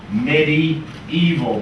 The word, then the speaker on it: medieval: Should be pronounced medieval, because this part comes from the Latin aevum, which means age. The Middle Age.